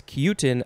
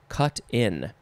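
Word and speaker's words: cut-in: plant mm-hmm cuten aw next is cuten again but it's not pronounced that way i apologize it is just cut in cut in two words with a hyphen noun from 1883 something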